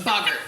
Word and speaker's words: boggart: A boggart. A boggart. A boggart. Yeah, Bogart is the guy who's in Casablanca. I always pronounce it Boggart. No, it's TG, so it's short O.